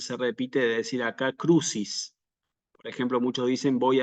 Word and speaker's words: crucis: vamos a decir aquí siempre crucis cruis como si fuera una ch sí persini San crucis